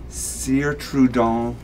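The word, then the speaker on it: Cire Trudon: I'd like a Sire Trudon candle. Am I pronouncing Your pronunciation's that?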